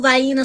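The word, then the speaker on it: Vienna: Okay, them little Vena sausages and that's how we pronounce it in the South.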